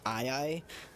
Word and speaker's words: aye-aye: One of the more recent ones I turned into was it's a lemur called an eye. You can Google it if you don't know what an eye is. It's spelled AYE-AYE.